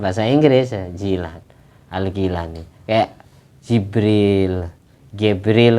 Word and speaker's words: Jibril: Inggris Jilan algilani kayak Jibril Gibril kan tulisannya Gibril Tapi bacanya Jibril Gibril bertiuta Jibril jadi